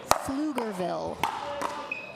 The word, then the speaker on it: Pflugerville: Flugerville.